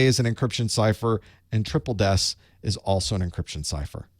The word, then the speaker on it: Triple DES: list is triple des it's how it's actually pronounced triple des it is des spun up three times three